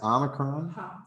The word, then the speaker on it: omicron: it say h-o-o the key to remember that is omicron is always short it's always short okay you wrote it